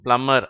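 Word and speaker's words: plumber: plate PM பிளம்மர் ஓகேவா இந்த கடைசி வார்த்தையை பிளம்பர்னு சொல்லக்கூடாது அந்த பி வந்து சைலெண்ட் இந்த வார்த்தையில பி என்ற எழுத்து அதாவது நடுவுல ஒரு பி வருது இல்லையா அதுக்கு உச்சரிப்பு கிடையாது அதனால அதை என்ன சொல்லணும் பிளம்மர் அப்படின்னு தான் சொல்லணும் இப்பொழுது இந்த பக்கத்தை பாருங்கள்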